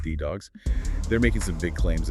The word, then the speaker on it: DDAWGS: Specifically, we've got sources on this project called Deputy Dogs or, uh, Day Dogs, pronounced D Dogs.